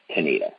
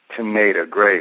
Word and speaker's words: Tanita: And how do you spell that again? Is it with a C or a T? T. It's Tanita. Teneta. Teneta.